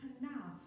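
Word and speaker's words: קנא: The Hebrew word is kana, spelled Q-A-N-N-A, but pronounced kana.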